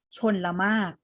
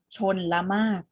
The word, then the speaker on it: ชลมารค: ละ ตัว กัน เลย ตัว แรก นะ คะ ไม่ ออก เสียง รอ เรือ แล้ว ก็ ห หีบ ที่ อยู่ กลาง คำ แรก คำ นี้ อ่าน ว่า ชลมาก อ่าน พร้อม กัน ค่ะ ชน ละ มาก ชลมารค คือ อะไร ชลมารค